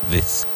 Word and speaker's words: this: And again, I insist, pronounce the TH sound in this. All you need to do is say, Zaragoza, this. Zaragoza, this.